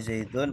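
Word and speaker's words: زَيْدٌ: Ini Zaidun yang merah ini sebagai mubtada. Dibacanya dun, tidak dan atau din.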